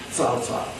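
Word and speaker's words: Cao Cao: difficult to pronounce because it's written c-a-o-c-a-o in the modern pinyin and the c is always pronounced as ts salsa and salsa ps is how it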